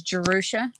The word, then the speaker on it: Jerusha: I always tell people to remember Jerusalem, take off the lum, and add a sh at the end.